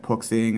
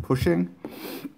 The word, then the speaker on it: Puxing: I hear a lot of people calling it book singing and stuff but from my understanding it's pronounced pushing this is the px8 8k model it comes